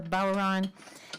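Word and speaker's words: bodhrán: there I'm playing the Irish frame drum the balron and uh Eric's gonna play tin whistles on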